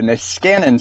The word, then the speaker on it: Niskanen: Vice President for Policy at the, can you pronounce this word for me? The Niskanen Center.